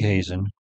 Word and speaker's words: Hazen: right Craig Hazen just Hazen is spelled just like it sounds h a Zen and